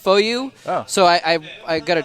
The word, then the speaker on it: FOU: said foul or no i think i said foo i said foo and they're like you mean foyo i'm like yeah and i want a jersey for getting that right yeah so uh anyway it is pronounced foyu apparently yeah it's kind of a strange way